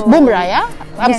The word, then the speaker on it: Bumrah: It's Bumrah, yeah?